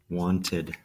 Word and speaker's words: wanted: Same with this one, want. Want. And add ED. Wanted.